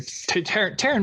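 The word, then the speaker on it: Taryn: manning i know i've i know who you're taran manning okay she's 42.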